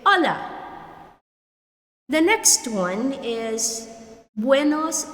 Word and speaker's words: hola: Hola, which means hello. So like what I told you before, the H here should be silent. You don't say hola, but you say hola.